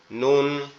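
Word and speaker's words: نون: আর নুনটা উচ্চারণ হবে আমাদের জিহ্বার আগা উপরের তালুর সঙ্গে লাগবে, জিহ্বার আগা উপরের তালুর সঙ্গে লাগবে, লেগে উচ্চারিত হবে নুন, নুন, নুন।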